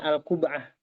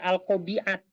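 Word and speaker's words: القبعة: tahu saya bahasa Arabnya alqub'ah Oke ini aja enggak apa-apa alqubah Ya ini bacanya bukan alqobiat ya bacanya alqu alqubah alqubah Ya alqubah nah misalnya ya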